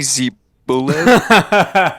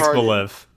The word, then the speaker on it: Xbolev: Did you just call me Zebolev? Zebalev. How I don't believe that the X is supposed to be said like Z.